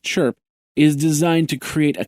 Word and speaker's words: CHRP: success successors the common Hardware reference platform chrp pronounced chirp is designed to create a common standard for